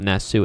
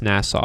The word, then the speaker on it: Nassau: he has terrible pronunciation it's not nessu it's nassau i mean he made the